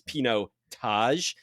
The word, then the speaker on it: pinotage: how to pronounce it it's Pino Taj like the Taj Mahal right so I mean